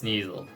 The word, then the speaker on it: Sneasel: i used surf and killed it because it's sneezel see it's not the most bulky thing in